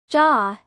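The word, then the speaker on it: じゃ: Similarly, here too, "de wa" is often pronounced "ja" in everyday conversation.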